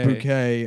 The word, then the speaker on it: Bucket: Her last name's Bucket, but she pronounces it Bouquet, and then she's like ashamed of her white trash family.